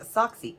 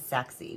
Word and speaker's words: Sachse: is the sen cut socksy sexy it's actually um spelled s-a-c-h-s-e but I believe um from the pronunciation that I know it is sexy now this has been